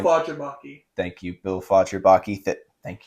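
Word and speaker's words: Fagerbakke: how do you pronounce Patrick's last name? Bill Fodgerbaki.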